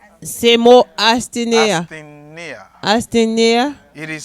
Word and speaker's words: asthenia: It is the word asthenia. Se mo astinea. Asthenia. Astinea. It is spelled A-S Li eple A-S T-H-E T-H-I-E N-E N-E-I-E I-A.